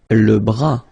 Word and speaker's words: bras: Le bras, same thing here, final S not pronounced, le bras.